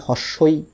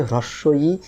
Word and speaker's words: হ্রস্ব ই: রকম সমস্যার মধ্যে পড়ি কেউ আমরা একে বলি হস্ই কেউ বলি দীর্ঘই ইত্যাদি ইত্যাদি তাহলে এই যে এটার সঠিক উচ্চারণ হচ্ছে হ্রস্ব ই দীর্ঘ ই দেখুন এই বইয়ের মধ্যেই রয়েছে তাহলে